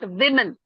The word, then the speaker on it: women: For example, woman. You're saying woman, woman. It's women. Okay? Okay. Women.